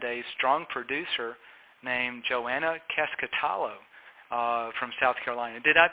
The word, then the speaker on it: Keskitalo: our clients and a strong producer named Joanna casket alo from South Carolina did I pronounce the last name right Joanna you did